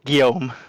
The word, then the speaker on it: Guillaume: Now, Guillaume, how do we say your name? We've been butchering it all year. Can you get us straightened out here, bud? You just said it right. It's Guillaume.